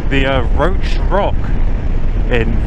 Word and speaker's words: Roche: today though we're heading back to the uh roach as I now know it's pronounced the uh roach Rock in roach funly enough which is uh it's an ancient